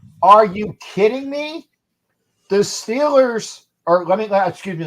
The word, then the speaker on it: Steelers: you kidding me the Steelers or let me excuse me they say correctly the stellers because that's how they pronounce it in that portion of Pennsylvania the stellars will get